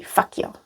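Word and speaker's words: fakt jo: And people would usually not pronounce the T. So it would be fakyo.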